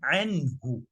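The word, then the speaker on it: عنه: Ma aghna anhu. Anhu. The nun is pronounced to the end.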